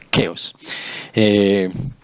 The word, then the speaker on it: Keos: Prefiero la expresión Keos, en griego era con capa, o sea que se debería pronunciar Keos.